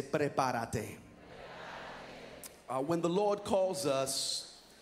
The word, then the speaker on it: prepárate: Look at your neighbor, roll your R's and say, prepárate. Not preparate, say preparate.